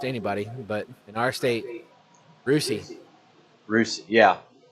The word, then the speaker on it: Russia: Well, just anybody, but in our state, Rusi. Rusi, yeah. It's spelled Russia. Russia. Pronounced Rusi.